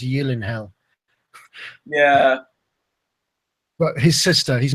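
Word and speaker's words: Gyllenhaal: he's married to Jake I never know to say Yen hell or jillen hell because he he said on camera that it's actually pronounced Y in hell yeah but his sister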